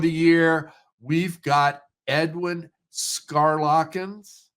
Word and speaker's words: Schaerlaeckens: year we've got Edwin scarlin I believe it's the pronunciation of the last name and edw welcome to click connect how are you uh thanks for having me Greg I'm doing just fine and you pronounced my name just perfectly it's a it's a